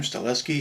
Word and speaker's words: Stahelski: I guess you pronounce his name, Stahelski.